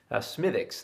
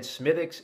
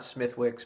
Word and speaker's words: Smithwick's: people pronounce it smithwicks smythics though i believe is the great pronunciation i've always pronounced it that way i was always told that w is silent so i've always said smithics and not smithwicks but a lot of